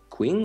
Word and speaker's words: Qing: Oh, I need to reform myself and take Beijing to form Qing or Qing. How do you pronounce that?